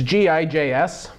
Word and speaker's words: Gijs: from a guy whose name I hope is pronounced Gijs, but I have no chance. I don't speak Dutch. It's Gijs.